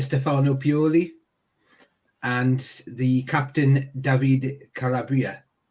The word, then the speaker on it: Davide Calabria: Obviously, the manager Stefano Pioli and the captain Davide Calabria. Davide Calabria, correct. Right back. I'll go with your pronunciation because it sounds a lot better than mine.